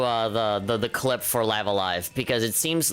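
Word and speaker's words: Live A Live: the game in japanese it says so yeah live alive and um that would have been a good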